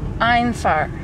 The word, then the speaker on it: Einfahrt: Einfahrt. The E and the I are backwards.